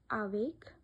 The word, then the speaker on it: avec: Then the word ends with certain consonants C, R, F, L, then we pronounce them. For example, avec, hiver, neuf.